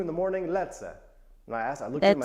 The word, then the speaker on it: lecę: Lecę.